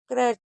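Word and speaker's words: crutch: क्रच, अब देखिए यहाँ पर टी साइलेंट है। अगर कहीं पर भी टी के साथ सी एच होगा तो हमेशा टी को नहीं पढ़ा जाएगा, यानी कि टी आपका साइलेंट रहेगा, इसलिए इसको क्रच पढ़ेंगे।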